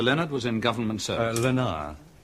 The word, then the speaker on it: Leonard: Lenar. He pronounced it Lenar the French way.